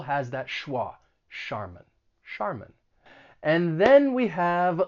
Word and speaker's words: Charmin: why but that's ch it's not a cha sound it's going to be pronounced like an sh sh charmin and that final syllable has that schwa charmin charmin and then we